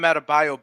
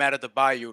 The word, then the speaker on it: Adebayo: Kendrick Perkins still calls Bam Adebayo Bam out of the Bayou like he's from fucking Louisiana.